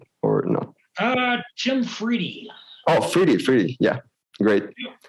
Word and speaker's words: Friede: good days so tim tim fried am i right like your your last name is fried right am i saying it right or no uh jim fridy oh freely free yeah great well jim freddie